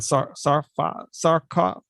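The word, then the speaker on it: Sarcófago: And how do you pronounce that? Sarcafago.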